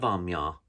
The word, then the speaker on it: Amiens: connolly station is uh of course because the irish refused to pronounce french words correctly which is fair enough because they refuse to pronounce irish words correctly either way to my southside